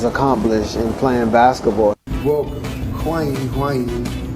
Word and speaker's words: Wang Yuling: Welcome, Huang Yuling. That's how they say it in Chinese.